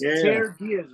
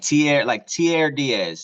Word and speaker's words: Tierre Diaz: Yeah, But it's pronounced Tierre Diaz, right? Yeah. Yeah, like Tierre Diaz. So like Pierre.